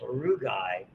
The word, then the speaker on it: rugae: They're called rugae. We also see them in the bladder. You got to roll your R's.